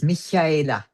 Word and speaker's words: Michaela: Well, it's the German pronunciation. It's Michaela.